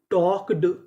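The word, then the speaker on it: talked: जैसे टी ए एल के इसे पढ़ेंगे टॉक। यहां पे एल हमारा साइलेंट रहेगा।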